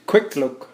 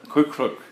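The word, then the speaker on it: Kwethluk: quick look and if you don't know how pronounced squeak click all you guys is quick quick look quick look quick look yeah all you gotta do is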